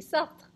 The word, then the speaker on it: Sartre: Say after me, Sartre.